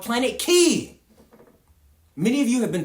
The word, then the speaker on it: Ki: I am declaring a new planet name, and I am changing it to Planet Key. That is spelled K-I.